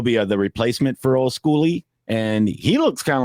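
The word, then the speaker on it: Skule: It's pronounced School. Well, I've heard people say Schooly, but then I heard somebody say it was School.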